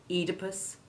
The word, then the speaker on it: Oedipus: that reason are frequently mispronounced as though the initial e was short e1 the oe spelling still holds on however in our old friend diarrhea also in enology the study of wine in medical terms like edema and in greek names like oedipus phoebus and phoebe they remember that the